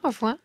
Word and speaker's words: au revoir: Yeah, au revoir.